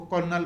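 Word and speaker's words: Colonel: brigadier के बाद करना इस वर्ड को उर्दू में करनाल कहा जाता है लेकिन इंग्लिश में इसका अर्थ साइलेंट है यानी इसको करनाल पढ़ा जाएगा और इसके बाद लेफ्टिनेंट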